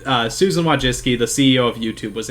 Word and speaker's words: Wojcicki: interviewing Susan what what jiske man looked up how to say her name earlier I know that's wrong but Susan Wojcicki the CEO of YouTube